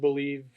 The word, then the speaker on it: BLEAV: Use that code BELIEVE for your 50% welcome bonus, and it's not spelled like believe. So look BLEAV.